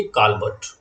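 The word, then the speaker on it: Colbert: काल्बर्ट। कॉल्बर्ट लिखे इसको, वैसे हिंदी में काल्बर्ट प्रोनाउंस करते हैं हम।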